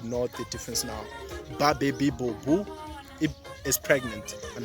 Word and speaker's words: Bobu: bring your attention to how B is pronounced in Xitsonga, because people usually confuse it with V. So I hope you know the difference now. Baby Bobu is pregnant, and how